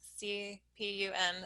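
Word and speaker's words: CPUN: be should the measure passed how will we pronounce c p u n it'll be c pun um so anyway that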